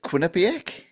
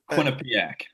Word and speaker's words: Quinnipiac: Is it Quinnipic? Yeah, that's pretty close. That's I'll give you that. Yeah. Yeah. Nice. How do you say it? Quinnipiac.